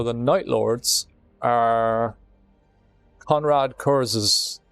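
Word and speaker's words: Curze: night lords are conrad curses it's it i think it's supposed to be pronounced curse but it's cu or ze uh so curse but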